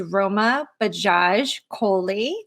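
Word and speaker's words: Roma Bajaj Kohli: Stacy Urich and my special guest today is Roma Bajaj Coley did I pronounce that correct yes good good so Roma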